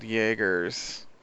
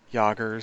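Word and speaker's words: Jaeger: these giant robotss called Jaggers or Jaggers or I'm pretty sure they were pronouncing as a yah sound uh yoggers something Jaggers uh and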